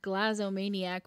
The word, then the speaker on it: glazomaniac: Or we just totally what's called a glazomaniac, which is someone who's obsessed with making lists. A what? Glazomaniac. Glazomaniac. Spell that again really slow.